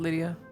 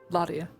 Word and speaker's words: Ladia: a hot day no not Lydia not loia ladia yeah it's never right